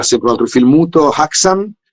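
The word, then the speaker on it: Häxan: Poi sì, a fine mese dalle parti mie, il 31 ottobre, ci sarà sempre un altro film muto, Haxan, è un film, forse Hexam si dovrebbe pronunciare, un film muto svedese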